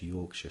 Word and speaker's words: Yorkshire: and they call it Yorkshire tea. Why is it special? Can I just say, Travis, that you are pronouncing Yorkshire well? Because Americans usually go for the Shire.